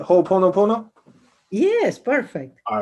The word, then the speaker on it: Ho'oponopono: But one thing that I am struggling to control is the pronunciation. Hoponopono. Ho. Hoponopono. Am I saying that right? Hoponopono?